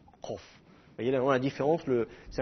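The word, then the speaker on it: קוף: emphatique donc ilut pareil il faut la prononcer en arrière dans la bouche alors que le CAF se prononce plus sur le devant de la de la bouche comme ça CAF KOF voyez la différence le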